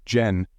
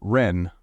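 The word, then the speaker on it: 仁: And although we romanize this word in English as jen, it is pronounced ren with a sort of rolling r.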